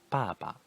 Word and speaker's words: 爸爸: ta the next one pronunciation first term plus neutral tone the same character baba means father this is